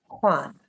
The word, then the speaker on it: Juan: Okay, it's spelled Juan. It's a Hispanic name and it sounds like Juan.